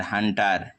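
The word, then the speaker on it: hunter: যেমন দেখো এইখানে এইচ ইউ এন টি ই আর এখানে ইউর পরে পরপর দুটি কনসোনেন্ট আছে রয়েছে এন এবং টি তাই এখানে ইউর উচ্চারণ আ হচ্ছে যেমন এইচ ইউ এনটিই আর হান্টার একইভাবে এস ইউ ডবল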